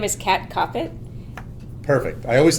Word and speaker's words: Koppett: Can't cop it like stop it.